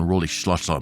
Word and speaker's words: Rolihlahla: Nelson Rolihlahla Mandela, or even pronounced more closely in the tribe of his people would be Nelson Rolihlahla Mandela.